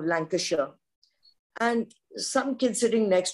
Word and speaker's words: Lancashire: get really irritated with somebody saying lanka shire instead of lancashire and some kids sitting